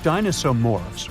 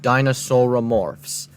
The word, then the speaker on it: dinosauromorphs: group of creatures called dinosaur morphs roamed Earth they are pronounced dinosauromorphs not dinosaur morphs they didn't look like